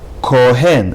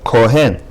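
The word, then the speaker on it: כֹּהֵן: Kohen, dagesh in chaf, since chaf is the first letter. Kohen.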